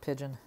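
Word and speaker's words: Pidgin: He makes these BJDs called Pigeon. P-I-D-G, and my spelling's bad. It's not spelled like pigeon. P-I-D-G-I-N.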